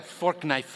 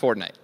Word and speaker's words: Fortnite: That's a fork knife reference. Did you say fork knife? It's actually pronounced Fortnite.